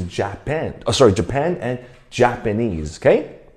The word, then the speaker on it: Japanese: 可是我们英文是 Japan, Japan and Japanese, OK。